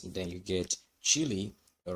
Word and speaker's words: Cheelee: And of course the ticker symbol of Cheelee is CHEEL, just like chill, as the song say, wait a bit, or relax, rest a bit. So it's pronounced chill, and I think, in my own opinion, the pronunciation is Cheelee.